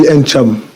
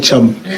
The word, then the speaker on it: Ntcham: Alors, on prononce le N ou on l'aspire? Il y en a qui l'aspirent, il y en a qui le prononcent, mais moi je lui dis Ncham. Et ma mère a dit Cham. Donc ça ne me dérange pas. C'est Ncham. Voilà.